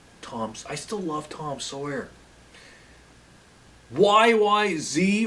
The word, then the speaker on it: YYZ: YYZ or YYZ, as we would say in Canada. I should say it properly. YYZ.